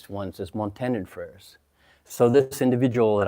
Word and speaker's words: Montandon: So our family name in South America, it is pronounced Montandon with accent on the end. The Americans say Montandon, and the French pronounce this Montandon.